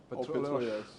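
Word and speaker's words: Petróleos: But you pronounce Atletico Petroleos? Petroleos.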